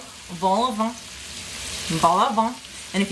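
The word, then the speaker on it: vol-au-vent: So this L gets pronounced in French, but this T does not.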